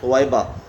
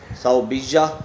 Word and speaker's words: ثویبہ: اپنی رضاعی والدہ کا۔ تو سب سے بہترین تلفظ جو ہے وہ یہی ہے، ثویبہ۔ ثویبہ کے تلفظ کے ساتھ یہ نام لکھا اور پڑھا جائے۔ باقی جو تلفظ ہیں دو، صوبیہ یا کی تشدید کے ساتھ اور صوبیہ یا کے اوپر زبر کے ساتھ، ان تلفظ کے ساتھ بھی نام رکھنا جائز ہے، لیکن بہتر تلفظ جو